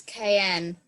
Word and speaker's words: Cayenne: think yeah the capital of French Guyana is cayenne Cayenne it is a administrative division of France